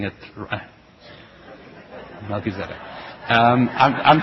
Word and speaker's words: Melchizedek: I'm I'm pronouncing it Melchizedek. Um I'm pronouncing I'm pronouncing it with the Hebrew and and and it's not it's not how most people are accustomed to the name.